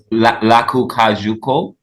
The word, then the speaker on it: Lakou Kajou: And I know, how is Lakou Kajou? Am I saying it correctly? Lakou Oh, Kajou. Lakou Kajou.